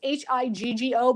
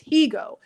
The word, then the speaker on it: Higgo: this young man, Garrick Higo. I want to say Higo because it's Higgo, but it's Higo.